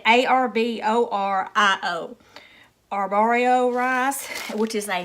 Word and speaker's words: Arborio: And it calls for, I'm not even going to try to pronounce this rice name, but it's A-R-O-B something, or Ruba. I said A-R-B-O-R-I-O.